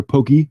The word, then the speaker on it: Pocky: venture to say that Pocky or Pokey as it's pronounced over in Japan um might be the